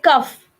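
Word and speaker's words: cough: bought caught okay but the words like cuff where gh actually sounds like f so these are the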